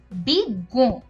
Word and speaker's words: বিজ্ঞ: আর যখন এই যুক্ত বর্ণটি শব্দের মধ্যে কিংবা শেষে থাকে তখন এর উচ্চারণটা দ্বিত্ব হয়। যেমন এখানে দেখা যাচ্ছে বিজ্ঞ, এখানে গ দ্বিত্ব হচ্ছে এবং তার উপরে একটা চন্দ্রবিন্দু রয়েছে। র, অর্থাৎ ডয় শূন্য র